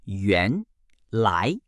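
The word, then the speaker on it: 原来: Yuan lai is pronounced yuan lai and means turns out or actually.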